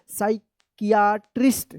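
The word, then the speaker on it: psychiatry: P silent रहेगा, साइकियाट्री रहेगा। साइकियाट्री, क्या पढ़ेंगे? साइकियाट्री। साइकियाट्री इसका सही उच्चारण होगा, ठीक है।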